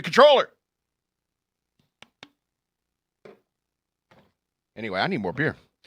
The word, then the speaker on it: comptroller: you have is like we have a comp troller i'm pretty sure that's not how how that's pronounced i'm a comptroller it's like i don't think you should have that job if you don't know what that is supposed to be controller anyway i need more